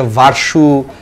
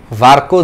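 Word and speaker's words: Virchow: ভার্কো, এই ভার্কোকে অনেকে অনেকভাবে উচ্চারণ করে, অনেকে ভার্সু, ভির্চুও বলো, অনেক বইয়ে আছে, বাট এই চিকিৎসক বিজ্ঞানীর যে নামটা সেটা আমরা মেডিকেল বইও পড়ছি এবং এটার উচ্চারণটা আসলে হচ্ছে ভার্কো বলা হয়।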